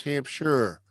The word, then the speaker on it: Hampshire: No, it's Hampshire. Shire. Hampshire is how it's spelled.